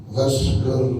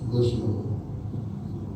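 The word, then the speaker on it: غسل: Bacanya gas jangan gus. Bacanya gaslu jangan gus guslu. Karena kalau guslu artinya mandi guslu jumati. Mandi Jumat tobati mandi tobat ya. Goslul aidah ini mandi dua hari rakyat. Tapi kalau gaslu membasuh, kalau goslu mandi.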